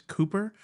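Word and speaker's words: Kuper: I think it's pronounced Cooper, but the PEHR is pear. It's not per.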